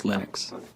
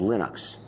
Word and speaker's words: Linux: And I really don't care how people pronounce my name. But Linux is always Linux.